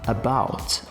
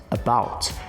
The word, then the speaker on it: about: O segundo caso, about, about. Percebe que o som ele ainda está mais parecido com A? Mas e esses outros dois casos aqui?